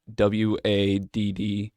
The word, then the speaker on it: Wadden: see did you say waden w-a-d-d-e-n it's like off what it doesn't sound like wait and it sounds like wadden sorry modern i'm gonna